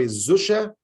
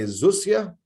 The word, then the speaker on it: Zusha: One of the rabbis he sent it to, his name was Rabbi Zusha or Rabbi Zusia, which is the correct pronunciation, Zusha or Zusia of